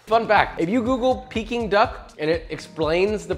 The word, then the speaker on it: Peking: in your mouth fun fact if you google peeking duck and it explains the pronunciation need i say more it's peaking just like me all things considered what are